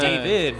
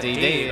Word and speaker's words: David: It's David, not Dave.